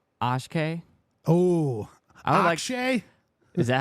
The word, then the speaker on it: Akshay: Oh, I would Akshay? Is that how you say it? Akshay.